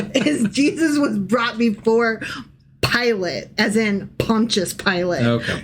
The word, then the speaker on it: Pilate: Jesus was brought before pilot as in Pontious Pilot. Okay. But the name IS SPELLED LIKE PILATES. So it's going to be really hard for me to like No. Pilot. Pilot. Pilot. Not Pilates.